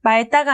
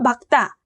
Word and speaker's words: 맑다: 닭으로 반음한다고 했었죠 이처럼 리을 기억 자원군은 기억으로 말따가 아니고 막다 읽지가 아니고 익지로 발음해야 한다고 했습니다 이처럼 늘 기억 장군